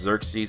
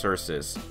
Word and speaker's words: Xerxes: direct ancestor of King sources and it's not pronounced Xerxes it's pronounced sources so there you go so King sources was